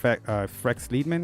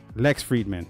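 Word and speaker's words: Lex Fridman: With Frex Liedman, I think. I misspelled that guy's name. I mispronounced it. All right, hang on here. Lex Friedman.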